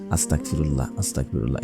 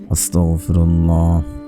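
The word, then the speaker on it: أستغفر الله: অনেকে ভুল করে পড়ে আস্তাগফিরুল্লাহ, এভাবে পড়বেন না, উচ্চারণ হয় না। আপনারা পড়বেন আস্তাগফিরুল্লাহ, আস্তাগফিরুল্লাহ, আস্তাগফিরুল্লাহ, আস্তাগফিরুল্লাহ।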